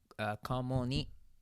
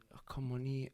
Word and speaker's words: Kamoni: And then Kamoni, which is how you say my name in Japanese, and. Kamoni.